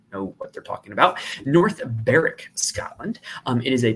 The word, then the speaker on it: North Berwick: that I do think Renaissance is the correct pronunciation so the Renaissance Club is a course in North baric if anyone says North Berwick then they probably don't know what they're talking about North baric Scotland um it is a par s it